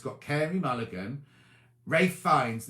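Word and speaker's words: Ralph Fiennes: it's got carrie mulligan ray fines now i'm not sure why they say it rave because it's spelt ralph isn't it but ray finds and then this little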